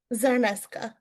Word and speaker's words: Czarnyszka: How do you pronounce the last name again? Zarneska. I'mma edit that. Okay, so today's guest is Ms. Zarneska, founder of Anchored Strategy Collective.